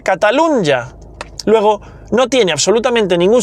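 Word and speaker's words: Catalunya: Bueno, la N y en español se pronuncia catalunja.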